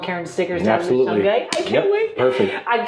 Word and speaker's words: Shungite: Any form of Shungite, exactly, yeah.